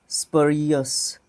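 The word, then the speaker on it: spurious: देखो, SPUR, स्पर, स्परियस, स्परियस, इसको 2 syllable में तोड़ो।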